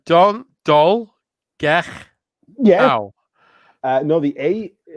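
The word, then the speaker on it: Dolgellau: Dol Galachiu. How did I do? The first third was perfect. Okay, let me try again. Dol. Gel. No, because it's 2 L's. All right, Dol, Gech.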